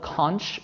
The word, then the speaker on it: conch: It's spelled conch, but I think the proper pronunciation is conch.